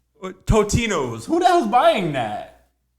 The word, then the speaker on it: Totino's: is this Tostinos one they're saying there's no s it's just it's spelled okay out of here I've always said Tostinos totinos Who the hell's buying